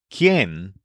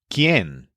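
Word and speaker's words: quién: simple word the pronoun Ken which means who in a question this is spelled q i n but the U is silent and there's an accent mark on the E Ken the easiest way to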